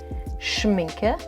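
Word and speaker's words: Schmincke: It's Schminke. Yes, that's how it's pronounced. It's a German brand.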